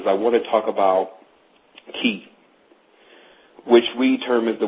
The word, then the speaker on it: Chi: So today, what I really want to talk about is I want to talk about Ki, which we term as the word Chi, but the CH pronounces as a K.